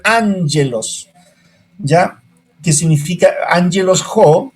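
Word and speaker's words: ἄγγελος: Pero en griego es, ¿no es cierto?, son dos guíes, pero no se pronuncia ángelos, no.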